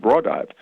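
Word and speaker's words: Raudive: And in case, he was explaining that this man called Konstantin Rodovay, he pronounced it Rodovay, had devised this thing, and it was a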